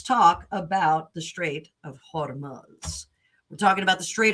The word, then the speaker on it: Hormuz: Um, but the straight of Hormuz Hormuz I think is the correct pronunciation.